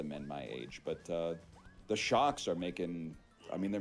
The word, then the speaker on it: SHOKZ: also some of the men my age, but the Shocks are making.